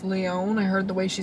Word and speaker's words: Lyon: How many letters are in Lyon? Lyon. 4. What's the second number in How many Kaylee's syllables? favorite number? Lyon. 2 syllables. 2 syllables, 4 letters.